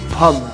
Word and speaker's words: pomme: Apple in French is Pomme.